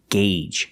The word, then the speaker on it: gauge: engine is turning and remember the pronunciation gauge use the long a sound we'll engage and two